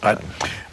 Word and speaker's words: Ut: And by the way, before you explain who Nick, is that the way you pronounce it, Utt or Ut? Utt.